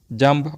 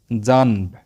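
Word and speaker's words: جنب: Next পাশে জাম্ব, জাম্ব অর্থ পাশে, এখানে জিম নুন বা এর উচ্চারণ হয় জানব, কিন্তু আরবি ব্যাকরণের নিয়মে নুন ছাকিনের পরে যদি বা অক্ষর থাকে নুনকে মিম ধরে পড়তে হয়, তাই নুনকে মিম ধরে আমরা জাম্ব বলবো।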